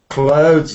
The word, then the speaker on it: clothes: go through these sentences and get the correct pronunciation first of all can you say this word colos Clos clothes yes that's right you know there are two